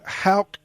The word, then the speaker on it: Haugk: Haugk? Yeah, it is with a K at the end, Haugk.